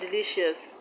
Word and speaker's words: delicious: In the word delicious, the stress is on li, which is the second syllable from the end of the word. Delicious, delicious. Suspicious, the stress is on p, p.